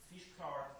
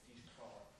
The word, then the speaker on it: Físchlár: learn how to pronounce it properly. Físchlár is an Irish word.